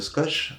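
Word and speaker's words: Squoosh: Donc le logiciel se nomme Skosh, ça s'écrit S-Q-Q-O-O-S-H.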